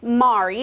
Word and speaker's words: Mari: So it looks and spells like Mary, but it's pronounced Mari is how she knows it.